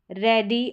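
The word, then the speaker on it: ready: इ ए का अब यहां पर है इ ए का उच्चारण जैसे रेडी और डेथ यहां पर रेडी और डेथ यानी शॉर्ट साउंड इसका दे रखा है।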